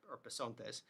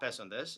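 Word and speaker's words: πεσόντες: It's pesondes, right? Or pesontes. It's not pesondes.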